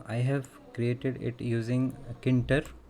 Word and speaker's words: Tkinter: have created it using kinter that is k enter some people spell it at t k enter some k enter like that and another library